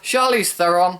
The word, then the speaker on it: Charlize Theron: white and the huntsman a star's Chris Hemsworth charlize theron that's how you pronounce her name Emily Blunt and Jessica Chastain